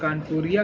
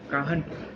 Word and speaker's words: Kanhpur: तो 1207 में राजा कान्हदेव ऑफ कानपुरिया clan, ठीक है, establish the village of काहनपुर। मतलब कि एक, इट्स नॉट कानपुर, इट्स the spelling of this is KANHPUR, काहनपुर।